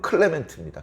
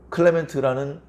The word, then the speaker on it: 클레멘트: 나의 동역자들을 해당되는 사람들이다 여기 이제 글레멘드란 말이 나오는데 뭐 원문의 의미를 의미라기보다 발음대로 클레멘트입니다 클레멘트 클레멘트라는 사람의 글이 지금도 전해져